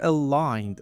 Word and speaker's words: aligned: So here g silent. Okay? So you don't say it.